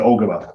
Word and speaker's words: Ogema: climax conventional fit into the production plans versus ogima sorry or Gmail I don't know how to pronounce that following Steve L yeah so we uh we pronounce it ogama that's how we pronounce it internally but uh